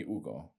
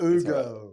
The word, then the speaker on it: Hugo: Now, my friends call me Ugo. Remember that. Yes, I know. I know. I I don't pronounce the name right. It's all right. Ugo.